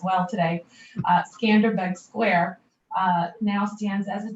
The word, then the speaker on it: Skanderbeg: testament to um albania's history and the square skenberg's uh i'm sorry i'm saying it we both professor nelson and i both said we've got to really make sure that we do our albanian pronunciations well today skanderbeg square now stands as a testament to tirana's